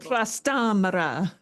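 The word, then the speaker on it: Trastámara: It's got an accent in Spanish. When we have an accent, it means the stress is in that syllable. Trastamara.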